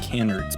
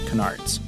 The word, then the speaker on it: canard: Probably 3, but I have to admit, up until like probably a week ago, I thought these were pronounced canards, but it's canards.